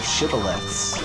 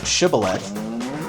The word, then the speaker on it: shibboleth: And if they said that ending sound with a th sound, kind of a soft th, then I think that was the Israelite army.